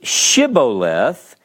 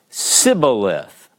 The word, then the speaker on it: Shibboleth: In chapter 12, verse 6, it says, let's see, and they said to him, say Shibboleth, and he said Siboleth, for he could not pronounce it right.